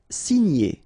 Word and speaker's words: signer: Signer, okay? G and N together, gn.